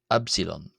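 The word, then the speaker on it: ⲩ: Then we have Absilon, Absilon, Absilon. Which is, of course, the Greek letter ypsilon, ypsilon, which is transliterated as the letter U. Pardon me. And it's generally pronounced in Coptic something like E, E.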